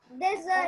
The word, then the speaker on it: desânimo: Então, é desânimo. Olha só, tem o som de Z, né? Mas escreve com S, né?